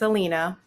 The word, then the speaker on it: Alina: No, that's perfect. It's Alina.